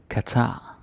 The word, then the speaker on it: Qatar: we just don't and we just say it like okay and um more or less so yeah you don't need to worry so much about that this Qatar Qatar yeah and the